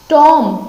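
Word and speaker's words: tomb: से शुभम यहां पर बीन साइलेंट रखना है आगे क्या है हम टॉम टॉम का मतलब क्या होता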